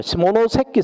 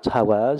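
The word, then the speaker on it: 下関: 시모노세키 세관서죠. 원어대로 써야 되는데 우리나라가 일본을 저기 좀 무시하니까 원산지 발음을 안 해주죠. 한자 표현을 그냥 하관이라고 하관. 시모노세키입니다.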